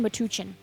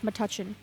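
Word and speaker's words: Metuchen: at New Market Shops in Matuchin. I did not know that's how you say it. I've been saying Matuchin, but apparently it's Matuchin.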